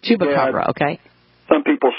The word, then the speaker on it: chupacabra: do you say it chba CRA it's a chuba Cabra chuba Cabra okay some people say it's like a hyena